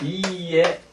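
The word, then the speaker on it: いいえ: 아니오는 하이 하면은 고요에 이에 하면은 이제 아니요 그렇습니다 자 하이 그다음에 이에 그래서 모음이 두 개가 겹쳐서 두 번째 모음은 발음하지 않고 이제 장음으로 처리했습니다 이에 하이 이에 이렇게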